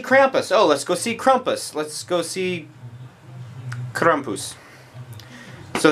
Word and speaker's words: Krampus: technology anyway the the Krampus or as some people say kumus or as you're supposed to say kumus that's how you actually say it um I think somebody's